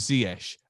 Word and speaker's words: Ziyech: about your name and said it was ziesh am i right yeah sure yeah yeah so that's how you say it yeah that's how you